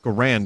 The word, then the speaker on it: Garand: Garand. It's Garand, isn't it?